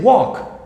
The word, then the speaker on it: walk: the way pronunciation here you're not going to pronounce the l here in the words walk and talk for example you're not going to pronounce the l you're going gonna say walk and talk okay it's